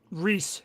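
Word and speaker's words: Rhys: Tom Rice Harry's um unknown. Um he's in a Netflix movie. I can't remember what it was about, but I heard about it this week. Technically, it's pronounced Reese Harry's.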